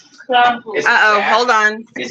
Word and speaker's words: Krampus: And we're watching Hereditary and Crump Krampus. Krampus. Krampus. Say it right. Krampus.